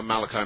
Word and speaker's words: Malachi: Father Malachi, is it? Yes. Okay, pronounced it right.